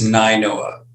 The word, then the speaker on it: Nainoa: Am I pronouncing that right? It's Ninoa. Ninoa, huh?